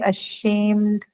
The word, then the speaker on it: ashamed: adjective right so uh it should be marked on the first syllable but then here we are going to on the second one huh correct very good